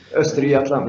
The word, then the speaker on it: Östergötland: And I believe this is it Östergötland? Am I not far off the region pronunciation with that? Östergötland, yes.